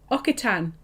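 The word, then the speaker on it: Occitan: Finn Alan Patrick is brother says okie tan and he's absolutely correct it is a local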